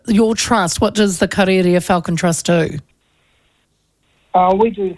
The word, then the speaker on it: Karearea: Karearea.